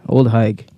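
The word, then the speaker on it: Ole Higue: Yeah, bro, it's spelled O-L-E space H-I-G-U-E. Old Haig.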